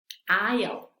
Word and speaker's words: aisle: Otra vez, estas dos se pronuncian igual, por eso les puse este signo, para que no lo vayan a olvidar. Se pronuncian igual, se escriben un poquito diferente, esta tiene otra letra al principio, pero de la misma manera se pronuncia igual. Es lo que en inglés llamamos homófonos. Entonces es aisle, aisle, debris, debris.